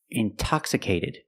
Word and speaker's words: intoxicated: Or words like intensive, intoxicated. We have the stress after the NT. We pronounce the T like a pure T. T. Release the sound.